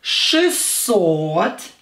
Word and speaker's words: шестьсот: Шестьсот. Again, or is stressed.